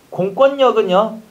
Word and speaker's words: 공권력: 공권력은요. 공권의 힘이라는 거니까 비음하고 벌어서 공권력.